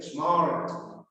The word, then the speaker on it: smart: Smart. En inglés británico no, decimos smart. Ajá. Casi no se pronuncia la R.